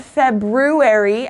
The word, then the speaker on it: February: pronounce it's February okay it's not February as it's written it's February okay so ignore the are here and it's the